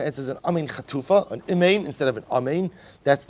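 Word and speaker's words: אמן: Ve'omer amen, vutzarch, so we'll say, amen chatufa is where you don't pronounce the first kamatz of amen. Instead, you pronounce it. They call it a chataf. But what they're really referring to is a shva. You say imein. Instead of say you say eh.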